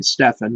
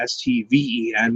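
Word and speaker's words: Stephen: P 22589 or Brandon plumbley always called me Stefan which I did not like because sometimes he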